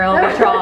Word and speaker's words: El Vitral: Now you have to say it with the perfect Spanish accent. El Vitral. See, I gotta roll the ruler. There's a lot of more pronunciations for El Vitral.